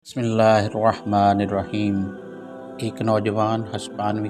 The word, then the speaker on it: اللہ: ہے وہ اللہ ہے۔ اس نام کا تلفظ انسانی زبان میں ایک منفرد موسیقیت رکھتا ہے، کیونکہ اس کے تمام حروف حلق سے ادا ہوتے ہیں، نہ کہ ہونٹوں سے۔ یہ الہی نام ہونٹوں